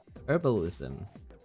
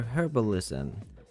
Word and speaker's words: herbalism: The most popular form is probably herbalism or herbalism depending on if you are silent H or audible H supporter.